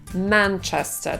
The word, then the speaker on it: Manchester: Arena Manchester czy Manchester Manchester tak mówią Brytyjczycy i ta pierwsza sam jest dokładnie pomiędzy polskim a a e Dlatego my musimy się zdecydować czy będziemy mówić przez A czy przez e po polsku i ja proponuję mówić przez e Manchester dlatego że następna samogłoska w tym słowie to też e i lepiej brzmi Jeżeli mamy dwie takie